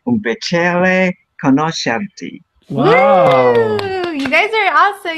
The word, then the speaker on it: conoscerti: Yes, è un piacere conoscerti. Oh, very good. Conoscerti. Perfect. Conoscerti. Yes. Very good, Pato. The next? Jamie? Sorry. È È un piacere. Piacere conoscerci.